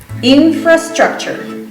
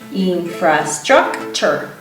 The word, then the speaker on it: infrastructure: So the T-U-R-E at the end of the word is pronounced ch, chur, all right? Like a chur, like in cheese. Infrastructure. So how many syllables can you count? Infrastructure.